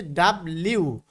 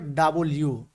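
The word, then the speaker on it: W: তারপরে আমরা আগে পড়েছিল ডাব্লিউ। হ্যাঁ, আমরা পড়েছি ডাব্লিউ, কিন্তু আসলে এর উচ্চারণ হবে হলো ডাবল ইউ, ডাবল ইউ।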